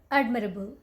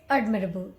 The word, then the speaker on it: admirable: this word okay so they right where you pronounce this word is admirable admirable okay admirable don't say Add admirable it's admirable admirable okay this one what do you call